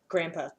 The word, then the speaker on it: grandpa: grandparents Grandma and Grandpa there's no D though I spell it with a d but I never say it with the days grandma grandpa see one of my